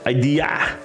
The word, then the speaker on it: idea: it ID and the English version is idea idea they really pronounce the A and we don't do that